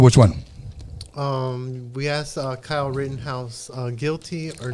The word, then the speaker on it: Rittenhouse: Now, really quick, the Kyle Rittenhouse, is that how you pronounce it? Yeah, Rittenhouse.